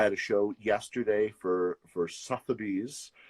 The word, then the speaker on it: Sotheby's: I had a show yesterday for Sotheby's. I've always pronounced it Sotheby's, but I was told it was Sotheby's.